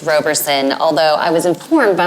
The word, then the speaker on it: Roberson: You can call me Roberson because honestly, English dictates that it should be pronounced Roberson, although I was informed